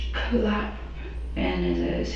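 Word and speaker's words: Clapp: How do you spell it? Okay. What's your last name? Clap.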